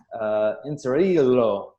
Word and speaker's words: Inzirillo: We have Inzirillo. Inzirillo. There we go. That's better. It should be pronounced in the Italian dialect there.